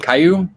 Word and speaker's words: Kiryu: Kiryu.